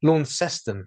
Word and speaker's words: Launceston: I would say Tasmania probably pronounce it correctly because it is spelt that way. Launceston is how they pronounce it.